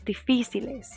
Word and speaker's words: difíciles: Libros difíciles. And again, make sure that you emphasize the syllable with the accent on it.